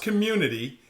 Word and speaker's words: CXMMUNITY: keyboard so community it sounds it says it's pronounced community and it's just to um to really highlight